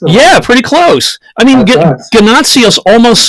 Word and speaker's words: Ganotsionis: first oh you're welcome I guess you can pronounce it ganazzios okay it's a Greek name obviously yep um I'm not going to say it the Greek way but oh guy nazios would be probably the best way to break it down